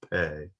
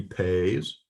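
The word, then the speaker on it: פ: So this is a final form of pay. It's pronounced P as in pastor.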